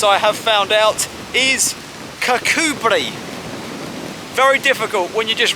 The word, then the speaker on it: Kirkcudbright: this town i think i would go for cut bright or something along those lines with the actual pronunciation as i have found out is kakubri very difficult when you're just reading it on